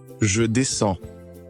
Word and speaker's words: je descends: When you write these verbs down with je, you add an S. But when you speak, often both the S and the letter right before it are completely silent.